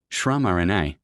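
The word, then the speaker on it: Śramaṇa: meditations of the Upanishads to the Rama movement, pronounced Shramarana, meaning ascetic asika, which gave rise to Buddhism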